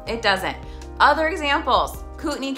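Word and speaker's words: Kootenai: doesn't other examp Les cutney County doesn't sound how it looks St Mary's it looks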